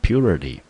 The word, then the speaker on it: purity: 重音节落在第一个音节，这个字我们就念成 purity。